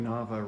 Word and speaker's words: Nava: Because Nava rhymes with Cassava?